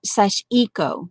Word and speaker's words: Sashco: was hotti popo who corrected us on the pronunciation of it's like let's see I have it I wrote it down and then I have it on a piece of um scrap paper it's like sash EO sashco something like that it's